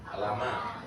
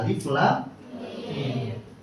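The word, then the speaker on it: الم: Tahu bacanya gimana? Alama. Alama lagunya Skipedia. Salah enggak? Salah. Salah. Baca Al-Qur'an tadi. Quran surah Albaqarah ayat pertama adalah alif lam mim.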